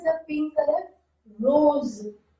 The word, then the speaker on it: rose: Rose, rose, z sound, rose, rose, zebra, zebra sound, rose, rose.